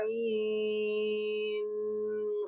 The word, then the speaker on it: عين: Jadi untuk ain cara bacanya ai dulu. Pernah dengar nama ai? Ai. Jadi jangan Oh ain, iya. salah. Ain. Ai dulu. Ain. Ain. Ai. Jadi dengungnya itu nanti pas setelah ketukan ke-6.